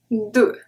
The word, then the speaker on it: deux: Une croix, and a very common one, deux, deux, no X. Well, we don't pronounce it.